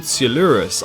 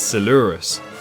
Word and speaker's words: Coelurus: this dinosaur is called sielurus i believe i'm pronouncing it correctly do correct me if i am wrong but i assume it's similar to celophysis so i'm going to pronounce it as seleurus as you can see